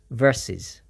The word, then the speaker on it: versus: compete against each other it's pronounced with the U as if it were an I so it's versus it is often abbreviated